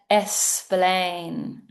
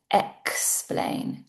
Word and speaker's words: explain: I said essplain. I should have said explain, explain.